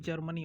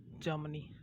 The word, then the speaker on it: Germany: You call it Germany, okay, but R is never pronounced. It's called Germany, okay. R is never pronounced. It's Germany.